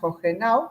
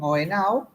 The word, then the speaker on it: Hohenau: Sí, se escribe como la ciudad alemana, que allí le pronuncian Hohenau, pero aquí le dicen Ohenau. Como la H es muda.